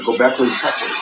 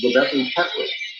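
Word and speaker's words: Göbekli Tepe: Gobekli Tepe, in 11,500 years before the present time, now being accepted in the realms of archaeology.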